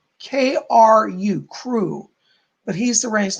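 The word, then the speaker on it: Kru: It's spelled K-R-U, Crew.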